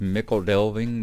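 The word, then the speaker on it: Michel Delving: As I said in the things, yes, I do understand that it is pronounced Mickle Delving, but being that I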